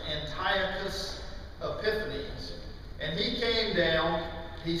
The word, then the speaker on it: Antiochus Epiphanes: a king who was north of Jerusalem named Antiochus Epiphanes. If you want to know how that's spelled, it's like Antioch, U.S., Antiochus, but it's usually pronounced Antiochus Epiphanes.